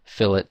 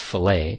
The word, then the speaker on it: fillet: more segments on the fill it there it's pronounced fill it not fillet just in case you're